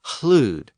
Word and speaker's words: hlud: So words like loud and lord and lady were also once pronounced with a slight breath before the L. Loud was hlud, H-L-U-D, and lord was hlavard, H-L-A-F-O-R-D, and lady was hlafti, again spelled with an initial H-L.